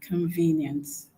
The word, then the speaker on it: convenience: Now the the stress for convenience is not on on the first syllable. It is on the second syllable. Why? Because the second syllable where we had V has a long syllable.